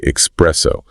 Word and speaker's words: espresso: Espresso is one of the most common pronunciation mistakes made by native speakers, they likely do it because they associate the drink with the word express, as in an express train or something that is made very fast.